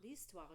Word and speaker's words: l'histoire: L'histoire. Do you see that H is silent, right? It acts like a vowel.